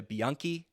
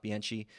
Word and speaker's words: Bianchi: It's Julia Bianchi, not Bianchi.